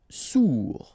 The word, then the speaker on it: Sourd: Sourd. Final D not pronounced. O-U together. Ou sourd. Ferme.